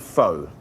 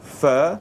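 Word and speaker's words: phở: Guys, we're gonna make pho, a classic French Vietnamese dish, which actually, faux pas, it should be called pho. Correct. It pronounced pho.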